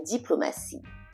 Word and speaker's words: diplomatie: Sometimes the T is pronounced like an S when the T is followed by another vowel. Par exemple, for example, in the word information, information, and diplomatie, diplomatie. So each time they're followed by another vowel, so the T is pronounced as a SY in English. Information, diplomatie. So S sound is what you're hearing.